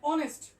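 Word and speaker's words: honest: এখানে অনেস্ট, অনেস্ট ও উচ্চারণটা আছে, আমি আবার বলি, চারটা উচ্চারণ ছিল, আ, এ, আই, ও।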